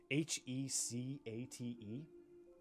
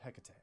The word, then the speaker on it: Hecate: How do you pronounce it? I would guess number one, like Hecate, but who knows? Okay, Grizz. Greek goddess, yeah. Use number three.